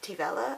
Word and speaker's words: Taobh Eile: So two of my friends, Neve and Felina, have a band called Taobh Eile. I hope I'm pronouncing that correctly. I was told it's like Nutella but with Teve in front of it.